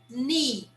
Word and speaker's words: knee: So for example, the first one, we have knee. So we never pronounce the K. We will always ignore the K. So here we start pronouncing from the letter N on.